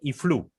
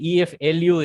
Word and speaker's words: EFLU: in this forum itself, where you said IFLU. It's not IFLU. EFLU is the abbreviated term, right?